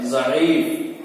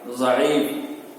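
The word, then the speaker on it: ضعیف: देखिए इसको हिज्जे कैसे करते हैं। ये क्या लिखा हुआ है? ज़ईफ। क्या लिखा हुआ है? ज़ईफ।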